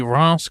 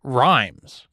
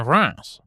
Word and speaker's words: Reims: It's spelled R-E-I-M-S, and as an American, I had always pronounced it Rhymes until I learned better.